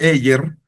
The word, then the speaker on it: Ayer: el filósofo inglés eh Alfred Eer. Ayer se escribe como ayer en español, se llama El positivismo lógico.